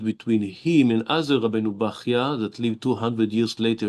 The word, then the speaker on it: Bachya: There is Machloket Ashkenazim, Sfaradim, how to say his name. Rabbeinu Bechayeh or Rabbeinu Bachya. And apparently it's Rabbeinu Bachya, the same as Ichya, it's an Arabic name.